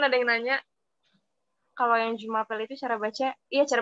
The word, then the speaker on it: Je m'appelle: Cuma kalau misalkan pronunciation bener-bener pronunciation aslinya itu baca Jumapel. Jadi nya tetap dibaca.